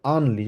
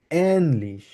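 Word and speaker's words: ähnlich: বলা হয় ওই জন্য আমরা বলতাম হচ্ছে আনলিশ বাট আনলিশ হবে না যেহেতু এখানে উমলা উঠাচ্ছে এজন্য সেজন্য আমরা বলবো কিভাবে এনলিশ একদম ইংলিশে যেরকম এ উচ্চারণ সেইম ভাবে এনলিশ খেয়াল করবেন এনলিশ এনলিশ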